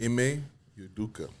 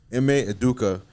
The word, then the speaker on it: Ime Udoka: Ime Udoka. Ime Udoka.